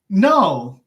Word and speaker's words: know: the Conte texts so let's say like no and this has two silent letters K and Oh W right instead of no if